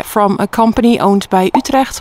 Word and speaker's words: Utrecht: It does say that the water pipes are from a company owned by Utrecht, which I think maybe you could know as Utrecht. I have heard people pronounce it that way.